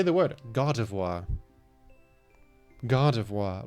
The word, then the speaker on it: Gardevoir: Name pronunciation. Gardevoir. Gardevoir.